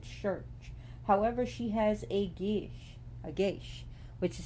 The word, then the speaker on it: geis: of The Prudent Church however she has a Gish a geish which is spelled g-e-i-s-e but it's pronounced Gish and her gesh which means taboo and now